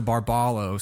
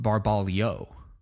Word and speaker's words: Barbalho: I think that's actually probably pronounced Barbalho. Sure. I did 2 weeks of learning Portuguese using that little app with a little owl. Duolingo? Yeah. I think that H is pronounced as a Y.